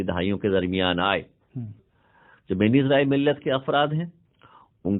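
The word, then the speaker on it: בני ישראל: سے تعلق رکھتے ہیں، جس کا تلفظ ہم اردو، عربی اور فارسی میں بنی اسرائیل کرتے ہیں. عبرانی زبان جو کہ یہودیوں کی زبان ہے اس میں تلفظ ہے بنی اسرائیل.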